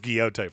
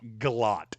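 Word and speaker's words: Gillotte: I thought it was Guiote for the longest time, but apparently he is not related to Don Kiote. It's Galot.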